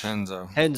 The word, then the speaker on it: Renzo: Is it Chenzo? How do you say Henzo with an H. It's Henzo.